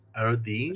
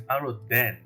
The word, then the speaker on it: Aroden: Arodine? Shake him a little when he says that. Aroden is the Little correct. floppy legs. The correct pronunciation is Aroden, not Arodine.